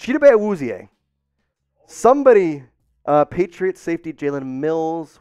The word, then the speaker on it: Chidobe Awuzie: Chidobe Awuzie is the correct way to say that name.